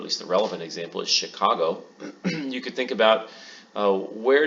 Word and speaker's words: Chicago: the name is that it's spelled with a CH but pronounced like an SH so why is that